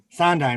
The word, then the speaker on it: Sondheim: Sondheim. That's how you pronounce his name.